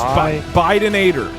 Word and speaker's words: Bidenator: No, it's Bidenator. Bidenator. Bidenator. Bidenator. No. Like Joe Biden. Like Bidenator.